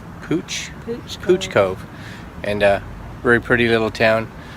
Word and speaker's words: Pouch Cove: Then we went out to, I kept calling it Pouch Cove, but it's spelled like that, but it's Pooch Cove.